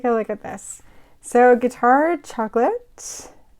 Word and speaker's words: Guittard: look at this so guitard chocolates think of it like guitar the instrument that's how you pronounce it established in 1868 way